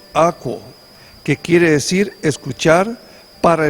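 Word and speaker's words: ἀκούω: Está escrito A-K-O-U-W, que se pronuncia akouo, que quiere decir escuchar para entender lo que se ha dicho.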